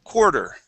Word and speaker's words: quarter: now on this word instead of saying quarter it is quar quarter quarter yeah so uh instead of pronouncing that a r it's more of an o r sound quar quarter okay quarter